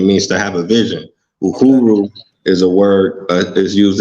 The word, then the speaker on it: Uhuru: Or how you pronounce it? Uhuru. Yeah. Hooper? Uhuru.